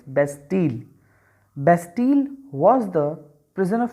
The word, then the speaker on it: Bastille: what what was bastille the correct pronunciation is best deal bastille was the prisoner